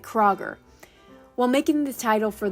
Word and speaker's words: Kroger: In American language, the umlaut does not exist, so the name became Kroger. Many people mispronounce the name. Instead of the OE sound the umlaut makes, they pronounce it like Kroger.